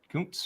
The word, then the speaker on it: Kuntz: Is that how you say it? Kuntz? Mm-hmm. Yep.